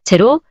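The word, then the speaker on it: xero: 다음은 접두사 제로 의학 용어의 발음 규칙을 공부할 때 이미 저희가 살펴봤죠. 용어가 X로 시작하는 경우 z로 발음합니다.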